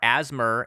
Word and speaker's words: ASMR: you were saying yeah no one has time to say ASMR asmer in at like the asthma Community the asmarians that's how they pronounce it actually I think asmer is functionally almost the same as ASMR okay well let's maybe